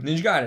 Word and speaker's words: Ninja Gaiden: Ninja Gaiden.